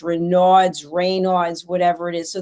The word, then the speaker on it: Raynaud: How do you say Raynaud?